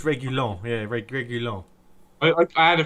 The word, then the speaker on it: Reguilon: I'm not very good at his pronunciation yet. Reguilon? I think it's Reguilon.